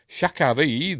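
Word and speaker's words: Sha Ka Ree: was named for him if you say it right it sounds like an abbreviated version of sha connory Shak Shan connory like shakar is that true or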